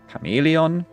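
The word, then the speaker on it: Chamäleon: It can be a K though, for example in chameleon, which also, like in German, chameleon is written like this. Chameleon. And there the CH would be pronounced as a K.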